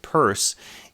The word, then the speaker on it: Peirce: And Charles Sanders Peirce, it's not pronounced Pierce, but Peirce, is one of the really key founders of